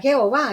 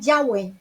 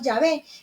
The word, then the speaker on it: Yahvé: estudiosa dice es que no se debe pronunciar Jehová, ese no es el nombre. Jehová es una pronunciación latina que se utilizó desde el siglo XVI, o sea, no había una pronunciación moderna. Cuando escuchamos a los judíos hablar de Dios, le dicen Yahweh. Nosotros le decimos Yahvé y hemos adoptado mejor ese nombre porque es más fidedigno, se ajusta más a la interpretación hebrea, Yahweh o Yahvé.